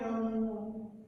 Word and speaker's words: domingo: Kata ini berasal dari bahasa Portugis, yang menyebutkan domingo atau bacanya domingo, dibaca domingo, yang kemudian dialihkan menjadi bahasa Indonesia hari Minggu.